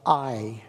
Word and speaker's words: Ai: next comes the tiny city of eye a eye is how we spell it I is a small